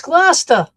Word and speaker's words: Gloucester: It's Gloucester. You got to say it Gloucester's that I right.